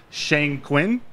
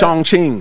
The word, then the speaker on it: Chongqing: what led you to Shang Quin did I pronounce that right Chongqing Chongqing Chongqing China yes it's it's actually the